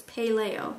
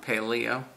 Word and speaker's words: paleo: I made uh paleo sure like paleontologist it's paleo paleo paleo there we go there I even licked